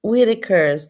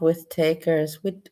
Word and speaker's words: Whitakers: So this is a highly inbred Whitakers, that's how you say it, not with takers, Whitakers.